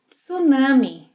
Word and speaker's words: tsunami: In Portuguese, we pronounce the T. Tsu, tsunami, tsunami.